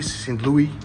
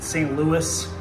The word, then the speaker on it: St. Louis: it the right way as in American we pronounce it St Louis we have a lot